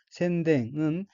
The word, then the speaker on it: 宣伝: 다섯째 줄 첫 번째 어휘는 한자가 한국어로 선전이고 일본어로는 센댕이라고 읽으며 센댕은 선전이란 뜻의 명사 또는 수로자동사 및 수로타동사입니다.